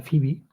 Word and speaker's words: Phoebe: un vídeo de fi que se pronuncia fibi o sea de foe fibi que es muy parecido